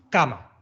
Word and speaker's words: cama: a ver por ejemplo cama esta palabra tiene dos sílabas la fuerza de voz especial va a parar a la sílaba k que es la segunda contando desde el final una y dos y como sé que el golpe de voz caen acá pues porque puedo estirar esa sílaba fíjate digo y me puedo quedar ahí media hora en cambio la sílaba ma esa no se deja de estirar así cama volviendo a nuestra lista